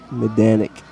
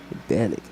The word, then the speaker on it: Medanic: Candy saying Josh, last name pronounced Medanic. Medanic. Okay, thank you for the with accent on Dan.